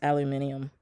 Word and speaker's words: aluminium: just for fun is aluminium. Because I just like to say it. Aluminium. And if you look at how it's spelled, that's how it's spelled. It's not spelled aluminum. It's spelled aluminium. It's fun.